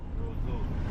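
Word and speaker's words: Roseau: are you I'm fine how do you pronounce the name of this city Roso Roso Roso okay all right guys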